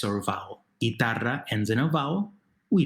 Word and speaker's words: guitarra: Well, where's the stress? It's the second to last syllable, right?